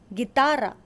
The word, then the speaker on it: guitarra: Just like in English, the U is not pronounced. For example, GUE as in guerra, guerra. GUI as in guitarra, guitarra.